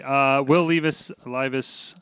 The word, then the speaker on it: Levis: And then we got Will Levis, however you say his name.